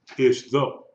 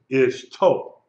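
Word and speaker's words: אִשְׁתּוֹ: Ish though, ish though. But since it has the dagesh, it is ish toe. That actually be transliterated I-S-H-T-O, ishto. The accent is on the last syllable.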